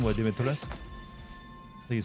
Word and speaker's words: Dimitrescu: That pronunciation, what, Dimitrescu? So you say it, right? Yeah, it's more like probably like Dimitrescu than anything else, I guess.